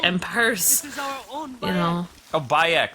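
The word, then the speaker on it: Bayek: like in purse a byuk that's how you say his name okay so there's no why it's just by Ecch yes I can't pronounce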